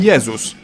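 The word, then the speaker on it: Jezus: world's favorite religious figure Jesus in Polish we call him yesus but if we were to pronounce his name the English way we'd write it down as Jesus and lastly G like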